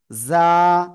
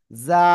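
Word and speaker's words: ز: হবে না ঠিক আছে যা টা হলো নরম যা সবাই একসাথে জোরে বলেন যা মাশাআল্লাহ মাশাআল্লাহ ওকে তাহলে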